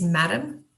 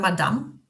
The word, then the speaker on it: madam: By the way, the pronunciation of the word madam is madam, not madame.